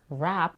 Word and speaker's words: WAP: the first part WAP we have a vowel a as in cat don't get confused by the W letter in the beginning of the word this letter is not pronounced and the word sounds exactly like the musical genre rap she reduces the vowel